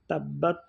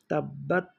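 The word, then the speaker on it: تَبَّتْ: সাধারণত উচ্চারণ করি বা আমাদের উচ্চারণ অনুযায়ী তাব্বাত হওয়ার কথা কিন্তু আসলে এই জায়গাটাতে হবে তাব্বাত একটু বাতাস চালু থাকবে তাব্বাত তারপরে ইয়াদা এখানে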